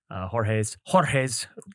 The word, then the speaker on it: Jorge: We'll put a link to it down below on this podcast to attend Jorge's webinar September You gotta 20th. roll your R, bro. Jorge.